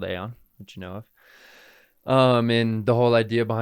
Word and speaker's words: AION: Aon do well it and how do you a on yeah a i o n a i o n some people pronounce it ion it's fine um but Aon